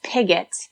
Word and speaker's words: Piggott: pronounce your last name for me so I Okay, so it's Pigott. So think of it like picket picket fence, but you pronounce the G. Pigott.